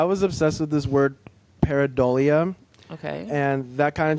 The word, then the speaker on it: Paridol: And the pronunciation of it. Yeah. Some people get tripped up on it, but it's paridol.